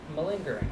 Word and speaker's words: malingering: you're not or something is that how you pronounce it malingering yeah m a or m a l i